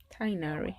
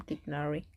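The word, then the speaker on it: Tighnari: Tainari. I keep pronouncing his name Tignari.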